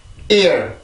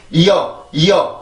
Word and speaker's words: ear: ear, ear, ear. 한 번 더. ear, ear, ear. 네, 그래서 이 발음을 할 때는 이어 이게 아니라 ear, ear. 강세도 넣어줘야 되고 이렇게 그 리듬도 만들어줘야 돼요.